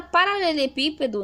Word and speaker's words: paralelepípedo: A palavra paralelepípedo, nós temos aqui o pi como mais forte, então descobrimos dentro do